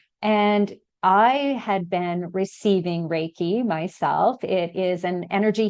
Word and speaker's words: Reiki: the financial services to becoming sorry if I pronounced this wrong, a rea master. Is that right? Yeah. Reiki.